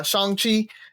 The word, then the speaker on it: Shang-Chi: just want to say Shang Chi Shan chi I I got it right they actually explain how to say his name inside of the movie so it is uh shangi and uh it is